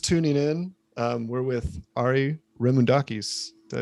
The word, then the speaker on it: Remoundakis: And if you guys are just tuning in, we're with Ari Remoundakis. Did I say it right? Remoundakis?